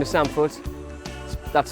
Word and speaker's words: Foot: Oh, sorry, my name is Sam Foot. That's spelled F-O-O-T, which is hard for a lot of people.